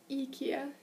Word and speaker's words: IKEA: actually you call it eeka in Swedish because I in English is pronounced e in Swedish so fun fact um